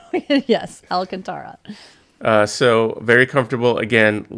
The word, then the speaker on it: Alcantara: cups it's the Okay so I always mess up the pron pronunciation of that the alante alak is that how you say it alak Al alantara Alcantara that's how you say